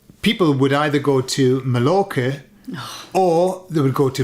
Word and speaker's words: Mallorca: So when in the UK, when I was a kid, people would either go to Mallorca or they would go to Majorca, okay? And that was, Oh, because you spell it with a J, don't you?